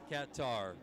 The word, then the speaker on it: Qatar: was a Coast Guard cutter coming supposed to say cutter. Katar Katar Katar that the like the official US state department is cutter actually the folks that